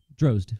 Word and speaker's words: Drozd: It's Drozd, right? Did I pronounce that right? Drozd, rhymes with hosed.